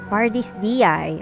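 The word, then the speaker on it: Pardis Dhyai: Party's DI. Okay, that's how you pronounce it.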